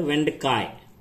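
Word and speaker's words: வெண்டைக்காய்: और वेंडकाय का पूरा प्रोनाउंसिएशन है वेंडकाय, तो आप वेंडका भी बोल सकते हैं।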